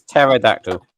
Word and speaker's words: pterodactyl: Um, it's a silent thing. in. Take your word and put it into the thing and have Google say it and it'll say pterodact. All right, listen. I'm from the Bronx. If I see a P instead of a if I see a papa instead of a tango, I'm going to say a papa instead of a tango. Trust me, it it it's pterodactyl.